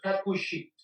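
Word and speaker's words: הכושית: Y aquí dice Hakushit. Ahí está también la pronunciación, Hakushit.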